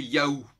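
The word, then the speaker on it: יהוה: On sait qu'il y a eu différentes propositions, Jéhovah, Yahvé notamment. En réalité, la forme la plus probable de prononciation, c'est Yahou. Alors, qui fait penser effectivement à cette boîte mail, Yahoo.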